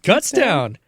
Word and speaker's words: Kutztown: How do you pronounce this school? Kutztown? Kutztown.